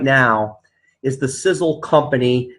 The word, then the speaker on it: Sisel: going to go over Sizzle it's pronounced like sizzling hot like a sizzling hot steak but it's an acronym